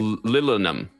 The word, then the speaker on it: Lilinum: Lilinum.